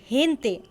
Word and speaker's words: gente: For example, GE is pronounced He, as in gente, gente.